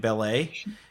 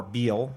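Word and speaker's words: Bele: We have Lokai and Belay. We have, or Beal, depending on how you pronounce it.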